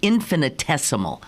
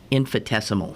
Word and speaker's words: infinitesimal: me with it okay i said infinite oh it is infinitesimal infinitesimally i said uh infidesimal oh i didn't even